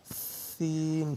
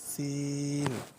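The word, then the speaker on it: سين: তারপরে হচ্ছে আপনার সিন। জিহ্বার আগা, সামনে নিচের দুই দাঁতের পেট ও আগার সঙ্গে লাগাইয়া একটি হরফ উচ্চারিত হয়, যেমন সিন।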